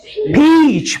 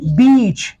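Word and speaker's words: peach: ई ए सी H correct pronunciation is पीच पी ई ए सी एच पीच लेकिन non native इसको अक्सर miss pronounce करते हु पढ़ते हैं बीच बीच ब ब बीच इसी तरह पी ए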